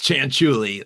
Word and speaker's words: Chantuli: It's Chantuli, like a chantella or like it's spelled.